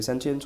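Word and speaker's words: sentience: सेंटेंस को relate करेंगे, वैसे इसका प्रोनाउंसिएशन कुछ भी हो, वैसे सेंशियंस होता है, लेकिन आपको सेंटेंस की ही फीलिंग आएगी।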